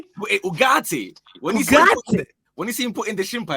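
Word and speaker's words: Ugarte: When you see Ugate on the touchline, I say his name properly. Say his name properly. Ugatti.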